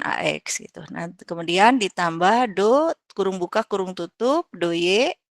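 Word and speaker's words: ∂: Jadi operator del itu del sama do. Nah, yang ini dibacanya do ya.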